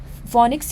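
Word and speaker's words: Phoenix: इसे भी याद रखिएगा प्रोजेक्ट फोनिक्स को फोनिक्स या फिनिक्स भी इसे प्रोनाउंस करते हैं।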